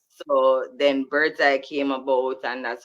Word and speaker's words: Birdz-I: until we get to Bird's-I. So it's spelled Birdz and then the letter I though.